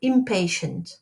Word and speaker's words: impatient: Impatient, not impatient. Histoire, some people want to pronounce the H, we don't pronounce the H, it's histoire.